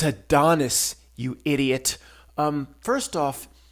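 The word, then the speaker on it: Adonis: even pronounce words uh a dontis you kept saying a dontis a it's a Donis you idiot um first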